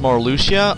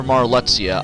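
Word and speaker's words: Marluxia: people this is now I've heard his name pronounced Mar Lucia or marsia I'm just saying marsia that's because I've when I first played this game that's how I pronounced it so if it's wrong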